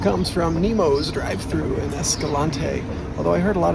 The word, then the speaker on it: Escalante: Today's daily recap comes from Nemo's drive-thru in Escalante, although I heard a lot of people pronounce it Escalante, like rhymes with anti-Escalante.